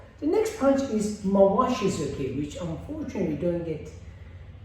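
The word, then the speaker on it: tsuki: So that k is silent, in Japanese that t is silent too.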